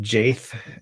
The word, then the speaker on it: Jaith: Yeah, so it's pronounced Jaith and like Wraith, and he's an American